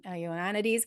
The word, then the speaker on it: Ioannidis: I don't know how to say his name Yeah, properly. He's Ioannidis, yeah.